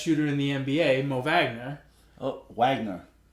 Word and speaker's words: Wagner: in the NBA Mo Vagner Oh Magnus it's magner how do you spell what huh you pronounce Wagner with a V yes it's German oh he's not an